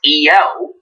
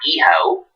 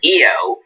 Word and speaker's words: Io: So my friend Ashton told me her name is pronounced Io, not Iho. I apologize, but Io Shirai.